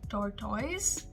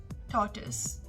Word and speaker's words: tortoise: eighth word tortoise tortoise this is quite a confusing word many of us tend to say tortoise but it is actually tortoise now in the american